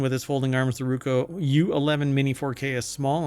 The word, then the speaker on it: Ruko: Skip flight school and start capturing epic moments with the Roku. Really? Uh, sorry, I pronounced that wrong. It's the Ruko.